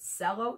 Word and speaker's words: cello: and it's spelled c-e-l-l-o so you would think oh is it cello no it's got the ch sound shallow so this is